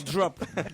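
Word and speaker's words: Dropt: Ah oui, non, sur Drop. De Bordeaux. On s'en doutait un peu, notez bien en Gironde. Sur Drop. Sur Drop. Sur Dro, ah, on doit dire Dro? Ah oui. Ça s'écrit On dit D-R-O-P-T.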